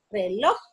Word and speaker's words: reloj: Por eso no, aunque reloj, lleva la sílaba tónica en loj, no tiene tilde porque termina en J.